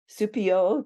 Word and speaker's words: Supiot: the night so I'm excited to have supio did I pronounce that right you did Frenchy Frenchy it's